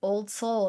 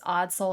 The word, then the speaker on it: Odd Soul: I mispronounced it. I said old soul and it was odd soul.